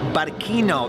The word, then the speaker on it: Barcino: So you'll see these letters behind me spelling Barquino. The C is pronounced K, and that was the name of Roman Barcelona when it was first founded.